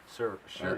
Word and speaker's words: Shuri: It's Suri? Shira? Sure. Oh yeah, I forgot about her. Yeah, Shuri.